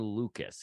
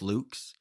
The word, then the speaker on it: Lukes: up either way but his name is pronounced Nathan Lucas even though it is even though it is I'm going to continue to go with Luke's nothing better than uh